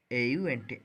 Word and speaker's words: aunt: AUNT aunt.